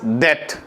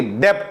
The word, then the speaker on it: debt: B का pronunciation नहीं होगा बेटा, B will not be pronounced, ठीक है। जैसे डाउट नहीं होता है, डाउट होता है, उसी तरह से डेट होगा, ना कि डेप्ट होगा, ठीक है। बच्चे डेप्ट बोलते हैं, गलत प्रोनाउंसिएशन है, ठीक है ना।